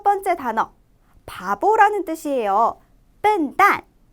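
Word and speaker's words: 笨蛋: 자, 여기에 유의해서 같이 하나하나 발음을 해보도록 할게요. 먼저 단어부터 보겠습니다. 첫 번째 단어, 바보라는 뜻이에요. 笨蛋, 笨蛋, 笨蛋 이렇게 말씀해 주시면 돼요.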